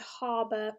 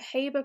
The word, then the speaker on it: Haber: is something called the harbour process so sometimes you'll hear this pronounced the haber process but british pronunciation is a harbor process so the harbour process